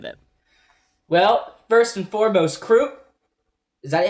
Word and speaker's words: Kruppe: The guy always says like Kruppe in this nice way, so I've always said it Kruppe.